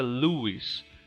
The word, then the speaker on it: Lois: Eles tiraram Lois porque a pronúncia Louis, né, lembra Luiz, que é um nome do gênero masculino, né?